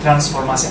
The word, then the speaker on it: Transformasi: For the first time, we finally have the chance of inviting Transformasi. I should pronounce it in Bahasa, right? Transformasi.